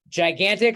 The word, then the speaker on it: gigantic: difficult word for pronunciation Double G's Each G has a different sound the first one has the J sound and the second one has the uh G sound so gigantic I'll match them up